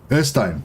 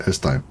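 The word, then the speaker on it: Øystein: Oystein, I forgot how to pronounce your name, but I guess I'll have to figure it out all over again. Oystein, I forget. Erstein, that's how you say it, Erstein.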